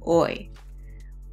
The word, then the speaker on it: hoy: So the H sound doesn't say ha, it's more silent. Oh, hoy.